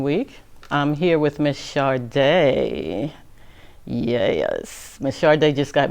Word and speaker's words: Shadae: I'm here with Miss Shadae. Yes, Miss Shadae just got married, and I always say your married name wrong.